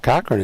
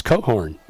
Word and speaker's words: Cochran: The uh correct pronunciation on Will Cochran is not Cochran. It's Coat Horn.